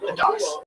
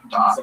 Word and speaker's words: da'at: Um, da'at is how you say it in Ashkenazi Hebrew.